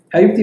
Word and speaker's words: Habibti: Habibti. Man, you're so good in pronunciation. Habibti means my love. So you can see this one to the female. Habibti is for female. Okay. For male, it's Habibi.